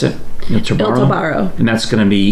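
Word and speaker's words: Il tabarro: How do you pronounce it? Il Tobaro.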